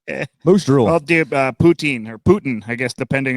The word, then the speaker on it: Putin: They're like, "You're saying it wrong," and I'm like, "I am. It's not You know what? Putin. It's Putin."